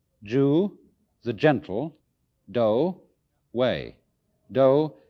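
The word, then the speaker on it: 道: the gentle do way do is the Japanese way of pronouncing the Chinese Dao and so it is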